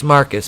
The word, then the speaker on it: Marquise: so hilarious alice tells marquise pronounce marcus because he's [ __